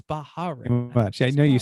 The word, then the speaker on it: Bahrain: Formula One testing has wrapped up in Bahrain, because I think it's only 2 syllables. I don't think it's Bahrain.